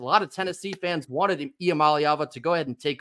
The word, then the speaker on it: Iamaleava: so bear with me IAM malava that's how you say it Nico IAM malava is